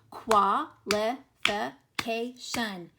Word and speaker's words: qualification: That UA makes this UA together makes 1 syllable sound. Qualification and shun. You'll notice here the li in the fi, that vowel comes at the end of the syllable, but for some reason it is saying it's short sound, so there are some exceptions, but most of the time it will make its long sound.